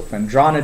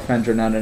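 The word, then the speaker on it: Phendrana: area - game so friend rana drifts if we got jack in the chat we're pronouncing it correctly just for him usually I call it friend or Nana Nana Nana na drifts because Batman but here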